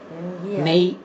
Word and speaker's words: neigh: Pronounce பண்ணுங்க. நெய் அப்படிங்கிற மாதிரி வரும்.